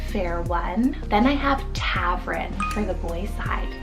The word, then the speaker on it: Tavren: Then I have Tavren for the boy side, T-A-V-R-E-N, Tavren. Now, I thought that was kind of like mysterious sounding, kind of sounds like a tavern.